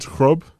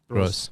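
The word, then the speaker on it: Groß: And is it Krob? Gross. Oh, is that how you say it? It's Krob the old. It's called the Schaffers S. Ah, okay. Yeah. It's German. It's German. It's called the Schaffers S. So how do you say it? Gross. Gross. Gross. It's that B thing. It's an S. Yes. It's an S sound.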